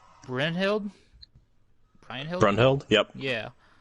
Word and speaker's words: Brynhild: Brynhild? Brunhild? Yep. Yeah. Brunhild, yep.